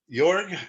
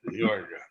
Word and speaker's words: Jorg: You can imagine me like the city of New York, like the York in New York. Jorg.